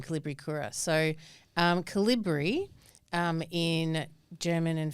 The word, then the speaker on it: Kolibricura: Kolibricura, yes. But it's pronounced however you want to really pronounce it.